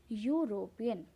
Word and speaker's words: European: European, again, when we pronounce the word European, the spelling is EUROPEN. The first letter is E, but E, it is not pronouncing. We are not able to pronounce European. We are pronouncing it as European.